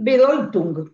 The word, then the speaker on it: Bedeutung: Entonces, yo había leído muchas veces esta diferencia entre sin sentido s i n, estamos en el idioma alemán y bedung, que se escribe bedeutung.